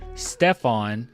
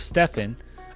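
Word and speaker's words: Stephen: one Nike executive reportedly mispronounced Curry's name calling him Stefon instead of Stefan uh meanwhile a repurposed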